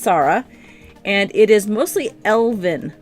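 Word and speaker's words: Tsarra: this is Sara its TSA RRA but it's pronounced Sara and it is mostly elven land this is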